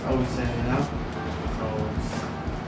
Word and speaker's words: Osin: a lot of people get a mistake to ocean and all that stuff. Oen, but it's Osen, you know. So, it's pronounced O S I N, you know.